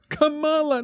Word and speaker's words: Kamala: Kamala, no, it's Kamala, like Pamela.